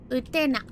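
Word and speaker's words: Utena: Utenna.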